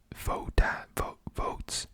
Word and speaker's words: Voatz: Votes, and it's spelled VOATZ.